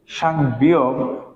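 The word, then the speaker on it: 쌍비읍: কি বলবো সাংবিয়োগ সাংবি যখন আমরা শুধুমাত্র বিয়োগ লিখবো তখন হবে কি ব আর যখন সাংবি লিখবো তখন এর উচ্চারণ হবে কার মত পর মত সাং বিয়োগ তারপর দেখেন যখন আমরা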